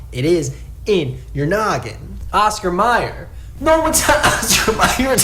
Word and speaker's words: Oscar Mayer: minute oscar meyer and you don't even pronounce it oscar mayer it's still pronounced oscar meyer so why would you think that it's oscar mayer scott i don't think it's mayor it's meyer it was always m-e-y-e-r you just can are